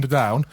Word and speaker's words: Underdown: He corrects us saying it's actually Underdown.